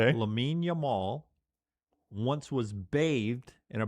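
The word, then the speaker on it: Lamine Yamal: Lame Yamal. Okay. Lamin Yamal once was bathed in a bathtub by Messi.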